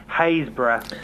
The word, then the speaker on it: Happisburgh: Haysborough. Haysborough. That's actually spelled, or it's actually pronounced Happisburgh if you spell it, but it's actually pronounced Haysborough.